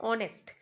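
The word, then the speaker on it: honest: ऑनेस्ट में H silent होता है। तो जब हम प्रोनाउंस करते हैं इस वर्ड को तो ओ से वर्ड स्टार्ट होता है। ऑनेस्ट।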